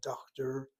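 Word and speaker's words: דוקטור: And you'll notice that the accent in the word doctor is the first syllable. Again, this is a borrowed word. A borrowed word will basically not follow the rules of Hebrew necessarily. And that's why she puts the emphasis on that first syllable.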